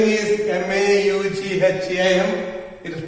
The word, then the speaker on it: Maugham: It's difficult to pronounce, though the spelling is M-A-U-G-H-A-M. It is pronounced as Maugham, something like Mo, but there is a W sound after Mo, so it will be Maugham.